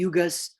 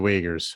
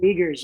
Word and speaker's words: Uyghurs: that's going on especially the side of the yugos muslims is going on over there oh the uyghurs the wagers yeah it's spelled like it's spelled like yeah name almost